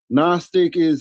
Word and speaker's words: Gnostic: For one, Gnostic the G is silent.